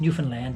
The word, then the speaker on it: Newfoundland: So uh uh new found land uh everybody pronounces Newfoundland, but I you know it's it's the new found land.